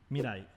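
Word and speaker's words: 未来: future in japanese is mirai mid-eye mirai am i saying it right mid-eye mirai it's hard in japanese there's no r or l oh it's kind of mixed together just the way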